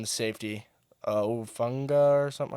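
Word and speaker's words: Hufanga: The safety, Ufunga or something like that. Ufanga.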